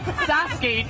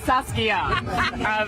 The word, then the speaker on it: Saski: So joining me back in the studio are Stevie and I'm going to give you a formal apology for pronouncing your name wrong. Saski, not Saskia.